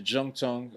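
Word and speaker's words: Zhongtong: Jung is Z H O N like a zong tongue, but it's pronounced as a J. Yeah. Just like Guanjo, right? So, I went to Jung Tong as well.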